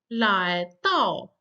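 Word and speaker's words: 来到: Then we have the next verb to arrive, 来到, the second and the fourth tone.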